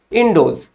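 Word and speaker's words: Ἰνδός: तो ग्रीक जो है रिवर इंडस को किस रूप में प्रोनाउंसिएशन करते थे या फिर पुकारते थे, बोलते थे, तो वो था इंडोज।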